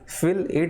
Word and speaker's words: fillet: इसी को हम क्या बोलते हैं, फिल इट बोलते हैं। क्या बोलते हैं, फिल इट।